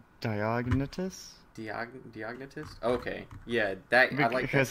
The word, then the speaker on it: Diognetus: I do like the when you mentioned how do you pronounce his name? Geonetis? I forget how to pronounce his name. I think it's Diognetus.